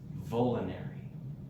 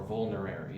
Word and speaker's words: vulnerary: different excellent medicinal qualities number one it is vinary or vulnerary if you want to pronounce it correctly but I hate saying it